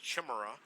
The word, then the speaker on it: Chimera: believe that that was the chimera which I believe is pronounced Chmura okay so we got